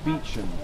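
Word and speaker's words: Beauchamp: also asked me about the beum tower spelled b pronounced beum that's just to the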